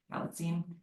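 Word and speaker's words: Galitzine: Galstein.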